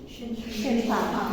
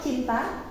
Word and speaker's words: Cinta: How does she say her name? Cinta, right? Right, Cinta. It's not Cinta. She doesn't say Cinta because there's no sound ch in her first language.